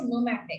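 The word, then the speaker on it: pneumatic: न्यूमैटिक bones are there, P is silent and the term is न्यूमैटिक।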